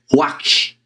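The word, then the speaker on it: רוח: Mas é ruach, ruach.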